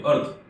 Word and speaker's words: Artha: नया शब्द बन गया अर्थ फिनटेक, और हमारी कंपनी का नाम रख दिया गया अर्थ फिनटेक। ये अर्था फिनटेक अंग्रेजी में उच्चारण बहुधाम करते हैं, लेकिन वास्तविक शब्द अर्थ फिनटेक।